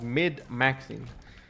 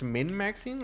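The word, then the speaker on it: min-maxing: term for it a obviously I know that it's Min maxing like I said it wrong but it was for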